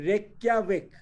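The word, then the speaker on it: Reykjavík: बेटा वहां पे एक्चुअली ये जो लैंग्वेज है ना, जो जे है, जे का जो प्रोनाउंसिएशन होता है वो य होता है। क्या होता है? या। Year. तो ये रेक्याविक, रेक्याविक। Reykjavik.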